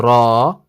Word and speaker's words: ر: light zai light but with the raw you can see or you can hear that it sounds heavy sigh sorry raw raw raw